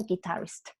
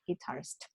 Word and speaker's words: guitarist: Pero acá en tu contexto era guitarist, ¿ya? Con el acento en la segunda, guitarist.